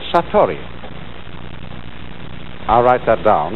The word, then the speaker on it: satori: is in japanese and then it is called satori i'll write that down it's an unfamiliar word